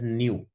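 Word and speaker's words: ν: This is a symbol for frequency, है ना, we pronounce it एज न्यू, न्यू बोलते हैं इसको।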